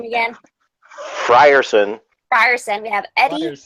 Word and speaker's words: Frierson: how do you say your last name again frierson fire Sam you have Eddie Marsan and it